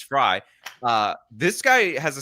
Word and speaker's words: Frey: Everybody corrected me for calling him Jacob Frey because, you know, that's how it's spelled. Um but apparently it's Fry.